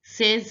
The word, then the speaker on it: seize: 15, 16 is pronounced as seize in French.